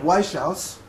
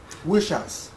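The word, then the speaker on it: Wieschaus: Prize winner, and he told me how to pronounce his name, and I'm going to blow it. Eric Weishauss. Is that correct? No. He will correct me when I... Weishauss.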